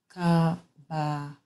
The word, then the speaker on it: Chabaquq: two three through four Hebrew is pronounced Kaaba which means encouragement and